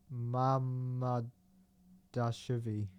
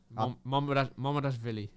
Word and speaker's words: Mamadashvili: So do I pronounce it how it looks? Yeah. Mamadashvili. Mamadashvili.